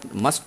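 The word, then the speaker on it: mustn't: ऐसे ही मस्ट नॉट का मसंट। अब यहाँ पर देखिएगा ये जो टी साइलेंट हो गया है ना, मस्ट नॉट का क्या है, मसंट है।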